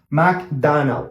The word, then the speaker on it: McDonald's: No, don't say Donald, McDonald. No, O sound. McDonald, pretty easy.